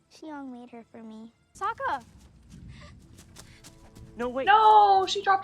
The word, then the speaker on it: Sokka: My name's Sokka. Rhymes with Waka Waka.